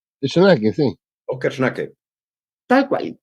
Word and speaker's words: Schnake: natalicio de Óscar Perdón no sé cómo se pronuncia schnake Shake sí Óscar schnake tal cual que fue parte